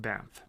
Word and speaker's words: Banff: I live is a beautiful small town called BAMF it is amazing little town is spelled BA n FF wonderful and there's a